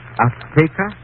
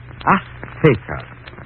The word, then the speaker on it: Azteca: She said, how do you say in English, Azteca? Azteca. She gave the Z a TH sound. That's Castilian Spanish. Mexican or any Spanish American would say Azteca.